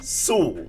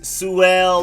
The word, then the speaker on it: Sewell: all right so first up is pine soul not pine eyes suell or cell or i used to say pine cell i